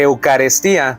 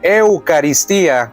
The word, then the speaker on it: eucaristía: observaciones la primera Pastor no se dice eucaristía se dice eucaristía con i ahí para que corrija la pronunciación número dos vamos a